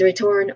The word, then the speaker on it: return: Pronunciation wise, there it's a bit longer, but yeah, the first syllable here is re, so it has a short E sound. And then you say turn. This part has the first stress, so turn.